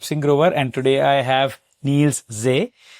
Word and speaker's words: Niels Zee: My name is Singh and today I have Neil's Z. I hope I pronounce it right. Yeah, perfect. Perfect. Great. Well, you're one of the few that actually gets it right.